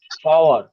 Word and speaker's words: power: Next, পাওয়ার পাওয়ার, পাওয়ার। দেখেন রটা Power. পুরোপুরি উচ্চারণ হবে না, মনে হবে আমি বলছি কিন্তু উচ্চারণটা হবে না।